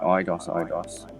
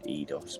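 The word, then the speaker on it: Eidos: So I would say IDOS, and I dare say some people could pronounce it ADOS, depending on how you pronounce the E and I to the D. obviously, like down in South, you would say master system.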